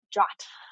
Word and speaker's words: JWT: abbreviate that JWT and we pronounce it jot just to make it easier because JWT is a lot of syllables uh even more syllables than Json web token uh so a jot is a just a